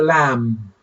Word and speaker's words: lamb: sheep is called a lamb it is called a lamb it is called alam okay lamb b is silent the b is silent here okay so uh these